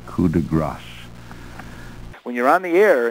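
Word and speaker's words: coup de grâce: grace, a finishing stroke, is often, I would say more often than not, pronounced coup de grace, and it cannot be coup de grace. G-R-A-S is gras, G-R-A-C-E is grasse, and this is coup de grace.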